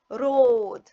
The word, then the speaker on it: road: R O D R R O road. What do you notice here? We notice that A is silent, has no voice.